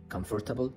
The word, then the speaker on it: comfortable: انت شخص مبتدئ بتنطقها comfortable وان انت كشخص طورت لغتك، كشخص ان انت طورت النطق بتاعك. النيتيف سبيكر بينطقوا الار كانها مش موجوده. comfortable. حتى التشديد على المقطع الاولاني comfortable comfortable بمعنى مريح او شيء comfortable احس فيه براحه.